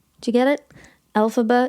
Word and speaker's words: Elphaba: So he's using the phonetic pronunciation of his initials, so LFB or Elphaba. Do you get it? Elphaba.